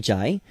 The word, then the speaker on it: Jai: Pronounce it like I with a J. I got it right. Jai.